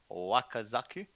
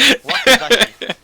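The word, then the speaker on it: wakizashi: Okay, so I will do my Wakazaku. You need to learn how to pronounce the weapons that you're using. Yeah, So absolutely. that's 13. You're like the worst ninja. Wakazashi. Sorry, Wakazashi.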